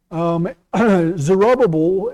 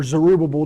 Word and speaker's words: Zerubbabel: yet who it's Messianic zerubbabel or zerubbubble depending on how you pronounce his name is one of